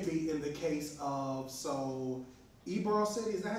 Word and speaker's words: Ybor: fire, it can be in the case of, Ybor City, is that how you say it? Ybor City, Ybor City up in Tampa?